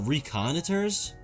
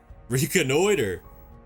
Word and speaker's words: reconnoiter: Is it reconnoiters? What does that mean? To inspect, observe, or survey someone to gain information for military purposes. How do you say this word? Reconnoiter. Reconnoiter.